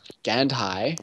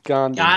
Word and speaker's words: Gandhi: rather have money in mine the office of gandai Gandhi g Gand I think it is Gandhi no Gandalf is spelled differently that's gandi Gand Gandhi yes as